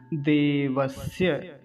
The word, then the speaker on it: देवस्य: तो कुछ लोग क्या कहते हैं, देवस्य, श्य, ऐसा नहीं कहेंगे, क्या है, देवस्य, देवस्य, स, दंत्य सकार, दांतों से वायु बाहर आता है, दांतों के माध्यम से।